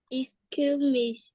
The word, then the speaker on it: excuse me: EXC me excuse me excuse me okay it's important to say um to pronounce the S excuse me excuse me